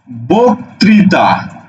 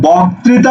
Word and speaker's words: বক্তৃতা: তুমি কি বলো বক্তৃতা তুমি কিন্তু বক্তৃতা বলো না তুমি বলো কি বক্তৃতা বোক বৌকার ক বোক তাহলে তুমি লিখে ফেলো বৌকার তুমি লিখে ফেলো বৌকার ক বক ত্রি তা এটা হচ্ছে উচ্চারণ এটা